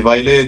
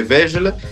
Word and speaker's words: Vejle: c'est c'est va donc on dit vaile nous en bon français on dirait vegel mais voilà la prononciation c'est vraiment vaile ouais tu les as